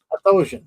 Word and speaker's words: Athosian: Othosian, thank you.